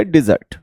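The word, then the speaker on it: desert: जब हम इसको एज अ वर्ब यूज करते हैं तो इसको बोलते हैं डिजर्ट, ठीक है।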